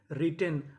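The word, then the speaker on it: written: डब्ल्यू आर I double T ई एन रिटेन।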